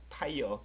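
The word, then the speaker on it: tire: 아닌 거 같죠 맞아요 아이어예요 그럼 타이어 타이어 타이어 그죠 타이어음 자동차 타이어가 있는 거 같아요 그까 귿 바람에 a a i 어가 붙었으니까 타이어 바름을 살짝 집어넣어요 걔네들이 바음 굉장히 좋아하시는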